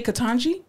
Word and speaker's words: Ketanji: other goddamn european names but you can't say katanji even if you say ke tan g they